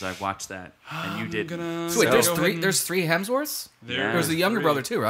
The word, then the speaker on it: Hemsworth: and then Luke Hemsworth or is it Hemsworth its Hemsworth Hemsworth not hell there's no hell in there it's just Hemsworth you've been saying it